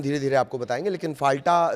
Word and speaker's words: फाल्टा: एक सीट है फाल्टा, फाल्ता भी इसे आप कह सकते हैं प्रोनाउंसिएशन के हिसाब से।